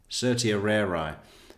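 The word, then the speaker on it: certiorari: Certia rarer is the pronunciation.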